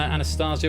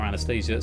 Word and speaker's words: Anastasia: I think B is pronounced Tatiana. Just to clarify. Tripping over my words there. Olga, Tatiana, Anastasia or Anastasia, Sergei or Maria.